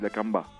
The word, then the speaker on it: La Kambá: Nous on dit La Camba, mais c'est vrai qu'on met un petit accent. Les mots qui finissent avec un accent à la fin, c'est prononcé avec un accent tonique vers la fin. C'est La Camba.